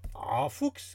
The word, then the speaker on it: Emphoux: Qui s'appelle « Entre mes mains, confidence d'un embaumeur, en Fuchs », car on prononce voilà. Le X, qui est édité par les éditions de Monceny, je prononce bien.